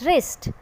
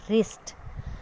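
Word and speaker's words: wrist: A watch on हिज रिस्ट. यू कैन see here watch में हम W pronounce कर रहे हैं watch, but नॉट इन रिस्ट. रिस्ट में W की साउंड नहीं आ रही, सो we have to underline this word.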